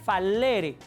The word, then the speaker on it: fallere: Se escribe fallere con doble L, pero se pronuncia falere.